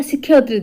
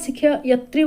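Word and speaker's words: ଶିକ୍ଷୟିତ୍ରୀ: एठी हमर शिक्षयत्री देछि। तेणु शिक्षयत्री रा शुद्ध शब्द आमे जते बेले नॉर्मली आमे शिक्षक शिक्षयत्री बोली कहिताउ किंतु तार प्रकृत उच्चारण शिक्षयित्री।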